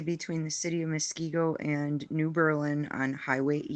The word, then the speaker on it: Muskego: Okay, Mosquito. No, Muskego.